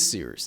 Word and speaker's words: Cyrus: My name is Seers. It's spelled like Cyrus, pronounced like Seerooster. Just take out the ter.